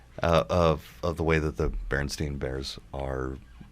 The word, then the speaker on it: Berenstain: life was a lie well it was always pronounced Berenstain so I guess that makes sense but yeah